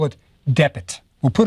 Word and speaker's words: dpt: let's say call it Depit. We'll put it in a little short E so it doesn't sound like Swedish, Depit, or whatever. So we'll say Depit.